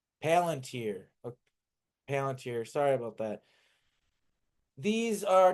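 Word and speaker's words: Palantir: Paladier. Palunteer. Palanteer.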